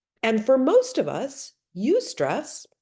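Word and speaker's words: eustress: There is what we call ustress. It's spelled eu. Eu stress. Ustress.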